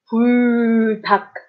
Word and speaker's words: 불닭: 불닭. So you see the 리을 기억 together, and I'm only pronouncing the 기억.